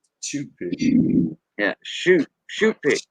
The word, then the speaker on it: choupique: Shoe pick. CHOUPIQUE. That's how we spell it. Shoe pick. Shoe pick. Yeah, shoe pick. Like your shoe that you wear. Shoe. A pair of shoes.